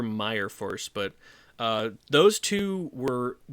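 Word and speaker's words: Myrfors: is Drew Tucker and Jesper Mir Force looks like Jesper Meyer Force but uh those two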